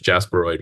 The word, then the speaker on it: jasperoid: And Jasperidy is the Well, that's how you say it in Spanish. Jasperoid would be in English.